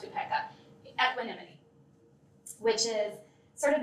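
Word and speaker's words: upekkha: The final one is um or pronounced upeka equinimity which is sort of an inner steadiness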